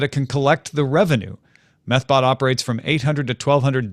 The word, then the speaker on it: Methbot: Security firm White Ops reported Tuesday that a botnet called methbot, I didn't mispronounce that, it's METH, methbot, has been used to gain $3 to $5 million in ad revenue per day in estimate since October.